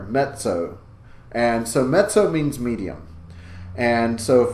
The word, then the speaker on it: mezzo: you go to pronounce met so please make sure you're getting a bit of a T sound in there met so-and-so met so means medium and so